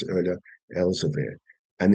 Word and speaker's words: Elzevir: All right, so I mispronounced it earlier, Elzevir.